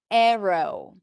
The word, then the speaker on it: arrow: In the dictionary, you'll see it as arrow, which is also fine, but most people are going to pronounce it with an S sound, especially people living in the US. Arrow. Both are fine.